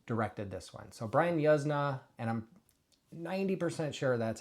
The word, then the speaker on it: Yuzna: Uh and he said, Yuzna. And I always thought it was Yuzna before that. Anyway, that's besides the point. Uh but, Brian Yuzna, if you did not know, directed this, he